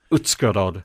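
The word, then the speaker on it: Uzhhorod: Um, forgive my pronunciation. The Yuzer, Utscarod.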